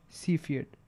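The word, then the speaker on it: Cepheid: are one of these standard candles are called C field variables that's how you pronounce it C Fiat so the special things about these stars are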